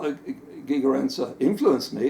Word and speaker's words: Gigerenzer: I guess you pronounce his name Gigerenzer. Gigerenzer, yes.